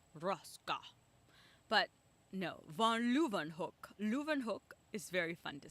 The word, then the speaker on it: Leeuwenhoek: So if it is of German origin or Russian origin, or an origin that I know that like W's mean V's, like von Leeuwenhoek, like it's a W, but you would say Vaughn.